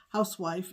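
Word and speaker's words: Huswife: and they are from the good housewife it's pronounced house housewife even though it's spelled it's spelled hus white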